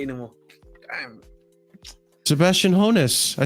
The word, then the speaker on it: Hoeneß: Sebastian Hoeneß.